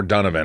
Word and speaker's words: Donovan: Donovan Mitchell's name right we we pronounce it more dunan I guess but it is spelled the same way we have three sauces